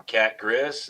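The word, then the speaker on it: Cat-Griz: I can't believe that I'm 1 week away from Cat Grizz, and that is the right way to say it.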